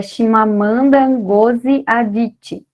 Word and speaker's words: Chimamanda Ngozi Adichie: Eu aprendi essa pronúncia assistindo a uma entrevista que eu vou comentar com vocês daqui a pouco, que é Chimamanda Ngozi Adichie.